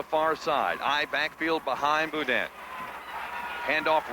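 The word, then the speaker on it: Beaudean: Boudin. I would think so. Okay, I'll give it a shot. B-E-A-U-D-E-A-N. Boudin.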